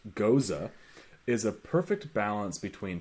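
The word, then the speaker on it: Gose: This thirst-quenching ghost, and it literally says in parenthesis, pronounced goza, is a perfect balance between tart, refreshing, and citrus flavors.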